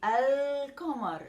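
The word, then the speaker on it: القمر: and about the pronunciation for example the lunar i would say al comar i pronounce the lam and no doubling while the solar i do not pronounce the lamb and i double so i say ash i don't say el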